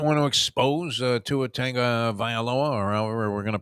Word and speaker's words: Tua Tagovailoa: What was his pronunciation of it? Tua Tagovailoa. Tua Tagovailoa. And that was the correct pronunciation, supposedly.